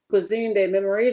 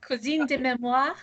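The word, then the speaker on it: Cuisine des Mémoires: Okay, my French is really bad, so you pronounce it for me, please. My French is not much better. Cuisine de mémoire. Yeah, that sounds so much better than what I was saying.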